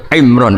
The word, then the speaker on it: Imran: Dari sana Bugis Imran, jadi orang sana nggak pakai ro. Kalau orang ro jadi pakai ra. Kalau ainnya? Ain pakai ain. Berarti apa? Imron gitu.